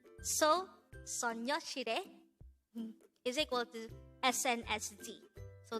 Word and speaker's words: 소녀시대: So the Korean translation of their name is actually Soñosidae.